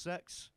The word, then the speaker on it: CEX: And a lot of you might know that CEX is actually pronounced sex.